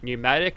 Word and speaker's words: pneumatic: also this thing's got the pneumatic I think it is let's go like a silent P and yeah we don't